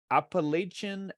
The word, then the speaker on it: Appalachia: I'm really happy to it's Appalachia okay um like throwing an Apple at you is how you say okay okay well like